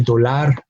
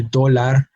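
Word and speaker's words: dólar: pronounce the word no we do not say Tolar we say dollar we do not say lapiz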